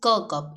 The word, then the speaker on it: Kirkup: This is not Kirkup, it is Kirkup. इसकी pronunciation है Kirkup.